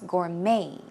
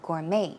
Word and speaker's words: gourmet: well in that case the T is silent it's gourmet gourmet as an ma Y